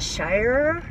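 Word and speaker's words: Shirer: Is it Shire? It's spelled S-H-I-R-E-R.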